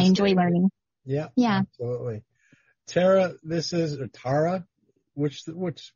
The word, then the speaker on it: Tara: like it's tara and that's how it's pronounced in ireland and then did they